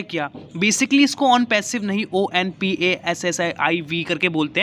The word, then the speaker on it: ONPASSIV: So guys, सबसे पहला जो क्वेश्चन है ऑन पैसिव है क्या। बेसिकली इसको ऑन पैसिव नहीं ONPASSIV करके बोलते हैं, बट प्रोनाउंसिएशन के हिसाब से इसको ऑन पैसिव हम कंसीडर कर रहे हैं, ठीक है।